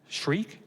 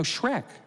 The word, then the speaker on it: Shrek: "Shriek?" "No, Shrek. Shrek. How do you spell that?"